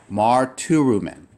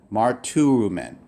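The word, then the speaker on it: μαρτυροῦμεν: Marturumen. Marturumen.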